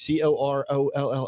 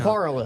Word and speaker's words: Corolla: you down in the Outer Banks, that city, that little piece of the beach, Corolla? How do you say it? Coral. No, How do you s- Corolla.